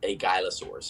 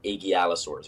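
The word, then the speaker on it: aigialosaurs: They're called the agylosaurs or agialosaurs or however you want to pronounce it. I call them agylosaurs.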